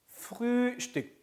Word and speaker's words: Frühstück: Frühstück. 우 umlaut 우에서 ü죠. ü. 그래서 Frühstück.